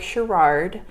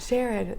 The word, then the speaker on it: Sherard: like a six-yard yes pronounced share it share it that's a beautiful never